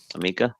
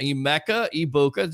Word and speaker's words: Emeka Ibuka: Emeka Ibuka. Just think of Emeka Okafor, who used to play for the Magic and played for Okafor.